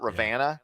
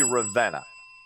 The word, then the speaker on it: Ravenna: I said Ravenna not Ravana sorry okay you know what if you spell it with an e I'm gonna say Ravenna it should be pronounced